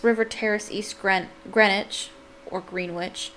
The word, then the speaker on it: Greenwich: Henry Samuel Tabram, 6 River Terrace, East Greenwich, or Greenwich. I think it's pronounced Greenwich, but it looks like Greenwich.